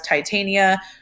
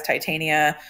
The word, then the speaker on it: Titania: You also might hear her referred to as Titania. It kind of just depends on who you're talking to as to what the correct pronunciation is. I have always said Titania. Some videos might reference her as Titania.